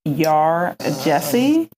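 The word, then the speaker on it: Yaa Gyasi: read homegoing I believe the author's name is pronounced um y Jesse and I just want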